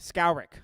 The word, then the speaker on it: Skowrick: You're still pronouncing our last name wrong, but that's okay. Skowrick. That's right. Like you're scouring at me.